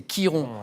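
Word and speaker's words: Chiron: chose Jean-Louis c'est bien c'est Kiron C i r o n ça se prononce effectivement Kiron c'est ça que vous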